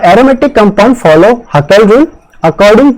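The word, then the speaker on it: Hückel: है, aromatic compound हमेशा हुकेल rule को फॉलो करता है। हकेल रूल भी करते हैं, कई जगह इसे हुकेल भी प्रोनाउंस करते हैं, हम इसे हकेल प्रोनाउंस कर रहे हैं।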